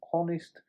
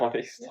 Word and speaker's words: honest: It's like It's a silent H, ain't it?